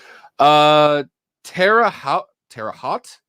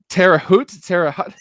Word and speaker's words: Terre Haute: Terre Haute. Oh, Terre Haute? is the T silent or no? No, it's just, Terre Haute? yeah, you just don't really pronounce the T like.